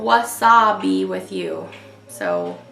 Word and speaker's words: Wasa-Be: This is called Wasa-Be with you. So, like wasabi, but it's spelled W-A-S-A-B-E.